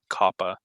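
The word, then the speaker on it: koppa: This last one is called Kappa, like Kappa, but with a Q.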